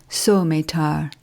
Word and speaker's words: Suometar: That word should be pronounced Suometar, but it means Suometar,